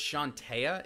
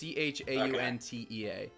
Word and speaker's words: Chauntea: I think it's pronounced Shantea. It's Chauntea.